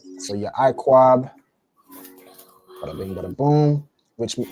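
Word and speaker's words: יעקב: already been through but Kyla how do we pronounce this? Y I quab right so yquaba bing boom which like yeah is how you pronounce it.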